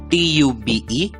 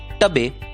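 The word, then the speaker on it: tube: bake ट्यूब और bone आप सोच रहे होंगे हमने जो पद्धति सीखी है उ से तो बी ए के ई का उच्चारण होगा बैके टी यू बी ई का उच्चारण होगा टब और बी ओ एन ई का उच्चारण होगा बोने तो नहीं दोस्तों इन शब्दों का उच्चारण होता है बेक ट्यूब और बोन दोस्तों अगर आप देखेंगे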